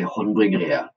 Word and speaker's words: Haandbryggeriet: You know, the guys at the brewery will probably say that I say it wrong because I have a West Coast accent. So I say it differently than they do. I say Haandbryggeriet. And they do a sort of more Eastern Norway sing-song version where they Haandbryggeriet.